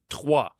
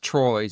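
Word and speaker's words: Troyes: no uh sorry uh twah twah we play TW it's it's very fren TW yeah unun it's not Troys they spell it Troys but it's uh there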